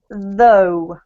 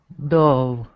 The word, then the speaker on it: though: careful because these the the letter g in these words is silent okay I know it's